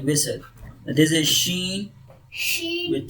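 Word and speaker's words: ش: Sheen, shin, sheen, tongue middle plate. Okay, sheen will produce middle tongue, middle side of the tongue touches roof of the mouth, mid side of the mouth. So sheen will produce sheen.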